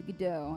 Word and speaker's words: Godot: It's Godot, and we gotta wait.